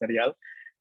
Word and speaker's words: Neriel: If you can roll your R's, it's Neriel.